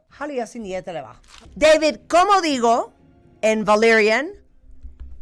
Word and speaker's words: Haluaisin jäätelöä: Haluaisin jäätelöä. That's how you say it in Finnish. How? Haluaisin jäätelöä. Haluaisin jäätelöä.